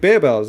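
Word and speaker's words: Barebells: to be i always i always said barbells until i saw that video and it was in english and i was like the they said bear bells it was like they pronounced it wrong i was like no i think it's meant to be sort of like bare as in like skinny like as a low calorie type thing so like a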